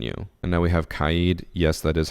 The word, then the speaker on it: Kaid: And now we have Kaid. Yes, that is how his name is pronounced.